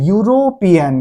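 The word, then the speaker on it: European: अनुसार एन नहीं लगाएंगे हम लोग देखेंगे इसका उच्चारण तो उच्चारण होता है यूरोपियन क्या होता है यूरोपियन तो यह मेरा क्या है यह मेरा व्यंजन है हिंदी में इसलिए इसके पहले अ का इस्तेमाल होगा।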